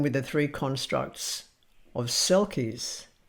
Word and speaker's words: selkies: I'm going to begin with the three constructs of selkies, which is actually pronounced shelkish.